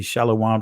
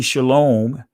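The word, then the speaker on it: שלום: There were no O sounds in Hebrew. In ancient Hebrew did not have any O sounds. So when you say shalom, that is not of ancient Hebrew origin, right? That's dealing with the accents of the Europeans that have interpolated our language.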